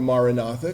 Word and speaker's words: Maranatha: So those of you who've been around for a while know my great devotion to the mantra Maranatha, come Lord Jesus, in Aramaic, 4 syllables, ma, ra, na, tha.